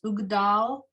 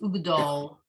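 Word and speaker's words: וּגְדָל: Now, and what you'll hear sung is this ugdal, is ugdol. They say it more as a o, this flat sound, as opposed to a ah, the way it's written.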